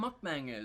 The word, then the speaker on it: mukbang: I don't think You that's what a hear- mukbang is. You hear them just, like, chewing. Is that how you pronounce it?